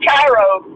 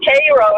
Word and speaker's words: Cairo: freight or whatever in Cairo, Georgia. And they both got in an argument about, one of them's like, it's Cairo, and the other one's like, no, it's pronounced Cairo.